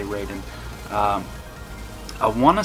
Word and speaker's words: Raiden: The Raiden games are Raiden or Raiden, however you want to pronounce it. I say Raiden.